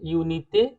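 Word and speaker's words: unité: Simple, English वाली यूनिटी की तरह से यूनिते।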